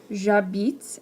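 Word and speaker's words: j'habite: have these stars here because the h is silent so we have to use elision here get rid of this e and add an apostrophe so we have jabit instead of je abit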